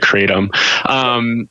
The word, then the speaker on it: kratom: first reached out about talking about kratom or some people pronounce that create them you know like I